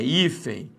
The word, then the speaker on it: hífen: A mesma coisa vai ser hífen ou hífen? É hífen.